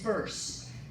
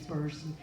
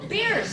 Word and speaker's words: Bearse: I say if somebody's gonna introduce me, I'll say it's burst, rhymes with curse, rhymes with hearse, you know, somebody joyful like that and then they go beers.